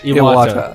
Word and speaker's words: Iwata: Iwata.